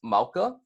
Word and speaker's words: mauka: are going to be mauka first which is pronounced mauka and then after that we have mkhaya and